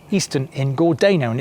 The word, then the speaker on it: Gordano: is called Eastern in gordano and it's definitely pronounced as gordano and I've had that